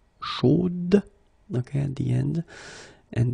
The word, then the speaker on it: chaude: the end, and then the pronunciation will change a little bit, chaude. So here you pronounce the final d, whereas in the masculine form you don't pronounce it.